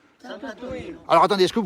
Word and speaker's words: Sant'Antonino: Sant'Antonino, comment on prononce ? Sant'Antonino.